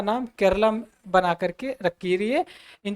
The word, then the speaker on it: Keralam: मलयालम में अगर हम केरला को प्रोनाउंसिएशन करते हैं तो वह वर्ड निकल के आता है केरलम।